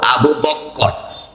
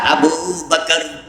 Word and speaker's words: আবু বকর: কইরে কথা বলবেন না আমার বন্ধু শব্দটা আবু বকর রায়ের মাঝে তাসজিদ লাগাইয়া ডবল উচ্চারণ করা যাবে না নবী প্রথম সাহাবী আবু